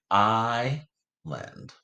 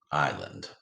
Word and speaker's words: island: And even though this S is silent, it's still a consonant and another consonant. Scholars, this happens most often with I and O, this VCC rule, right? Island. Island.